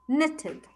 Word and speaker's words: knitted: Material and that is woven or knitted, the K is silent, knitted.